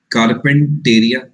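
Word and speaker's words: Carpentaria: Gulf of कारपेंटेरिया, gulf of कारपेंटेरिया, please understand this, pronunciation matters.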